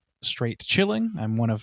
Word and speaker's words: Straight Chilling: Straight Chilling. That's a hard G. Not a soft G, it's a hard G. So you get the pun.